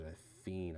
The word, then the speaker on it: Fien: Technically, he pronounces it a fiend, I believe.